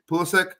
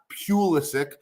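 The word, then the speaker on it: Pulisic: stop Michael Pula sick Pula sick not pisik pulik is the correct way to pronounce that he's also scored six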